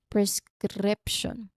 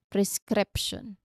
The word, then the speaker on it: prescription: Prescription. Again, prescription. One more time, prescription. Well, to pronounce this clearly, it can help you to,